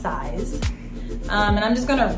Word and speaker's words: CISE: the company itself so a spell c-i-s-e i think it's pronounced size um and i'm just